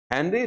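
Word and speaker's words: Henry: रियोथेस्ले, WRIOTHESLEY, रियोथेस्ले, sorry हेनरी थेस्ले, हेनरी रियोथेस्ले, sorry हेनरी रियोथेस्ले, W silent है।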